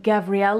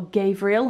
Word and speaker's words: Gavriel: so i have my mansur gavriel or gabriel however you'd like to pronounce it tiny bucket bag there